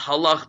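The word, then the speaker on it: הלכתי: Even though it's pronounced halach, which means the way that you walked, it's spelled with a silent yud at the end, which means if you would pronounce the yud, the word would be halachti, which means I walked.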